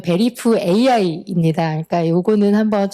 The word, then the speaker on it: VERIFAI: 이게 보면 발음을 이렇게 베리파이 이렇게 하다 보니까 Y로 인식하시는 분들이 있는데 어 잘 보시면 베리프 AI입니다.